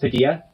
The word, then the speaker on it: Padilla: is gonna be interesting his last name is Spanish it's pronounced Padilla oh my God